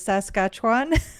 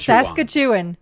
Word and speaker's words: Saskatchewan: So my understanding now is it's Saskatchewan, but for old time's sake, I'm sticking with Saskatchewan. Saskatchewan.